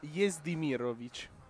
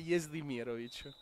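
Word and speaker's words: Jezdimirović: Il set che ho allora mi arrivano suggerimenti che si pronuncia Jezdimirovic. Arrivano da persona fidata, arrivano suggerimenti che si dice Jezdimirovic.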